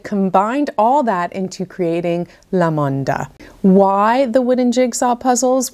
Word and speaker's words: LaMoonDa: Now I'm told it's pronounced LaMoonDa, which in Spanish means fun, original, amazing.